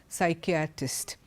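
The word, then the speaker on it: psychiatrist: silent like for example look at this word psyche artist P has s after it but we don't pronounce the word P it goes psyche artist the second one pneumonia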